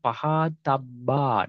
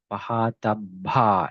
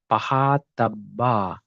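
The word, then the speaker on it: pahātabbā: Asava dasana pahatabba, not pahatabha. There is no aspirated sound here. Okay, pahatabba.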